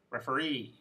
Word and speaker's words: referee: three syllable words volunteer referee picturesque so here the suffix is the last syllable and the word stress is the last syllable as well and this brings us